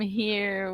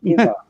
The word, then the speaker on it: hither: So this is Heather from Come Here with Heather. Am I pronouncing it right? No, not quite. It's come hither. Come hither. The old-fashioned word for here.